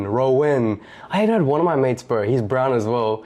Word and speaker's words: Rohan: We're like, is his name actually Rowan? like I thought I was saying it wrong my whole life. Dude, all my brown friends would say Rohan. Yeah. Like Rohan, however you want to say the HA.